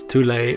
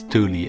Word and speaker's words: Thule: As a little side note, there are also other ways to pronounce this island's name, such as Thule or Thule, but I'll refer to it as Thule in this video.